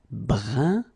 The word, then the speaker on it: brun: Brun, brun. Okay, fin. Brun, fin. So you write it differently, but then you pronounce it like the first one. It's un, un, okay?